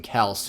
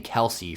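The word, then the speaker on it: Kelce: for the philadelphia eagles we've been we've been saying kelsey for years like these aren't new players to the league and their names been pronounced all this uh pronounced wrong all this time so something uh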